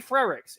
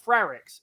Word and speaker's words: Frerichs: tough pronunciation molly's idol courtney frerichs it's not frarix it's not seidel okay